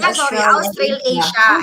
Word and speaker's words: Australasia: Ano pang pronunciation nito? Australasia? Australasia. It's actually Australasia.